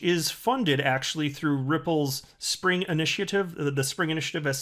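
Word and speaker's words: Xpring: Just like when Spring, before it was rebranded Ripple X, it was written X-P-R-I-N-G, and it was supposed to be pronounced Spring, and people kept calling it, understandably, X-Pring.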